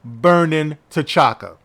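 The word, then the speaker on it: Birnin T'Chaka: in the city of Burnin' T'Chaka. Yeah, you heard right. The city is called Burnin' T'Chaka. Now, Burnin' is spelled Birnin.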